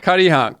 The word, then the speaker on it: Cuttyhunk: Cuttyhunk. Let's pronounce that correct.